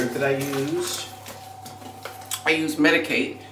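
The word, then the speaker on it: Medik8: I used I use medicate it's spelled me i k and the number eight um I didn't bring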